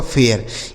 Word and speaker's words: fair: यप से हो गया फ, इस AI का उच्चारण ए, आर से र, यह लिखा गया आपका फेयर।